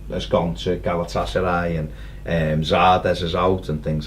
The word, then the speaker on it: Zardes: gone to Galatasaray, and Zardes is out and things like that, so they needed Zardes. I remember that. Your mate. Interviewed him, said his name wrong. Good start. Called him Vardes.